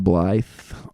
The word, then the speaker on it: Blythe: yeah at d randall blythe yeah the th e is silent but i say it life like that because people don't